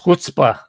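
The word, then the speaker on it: chutzpah: If she does, that would be the ultimate and what Yiddish is pronounced hutzbah.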